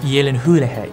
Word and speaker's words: Gyllenhaal: It's pronounced Yelenhulehe.